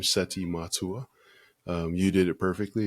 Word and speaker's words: Seti Matua: will be helpful to your audience the pronounce pronunciation of my name seti matua um you did it perfectly and you always